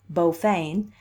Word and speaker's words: Beaufain: Beaufain, pronounced in Kings Port Beaufain, as she was then,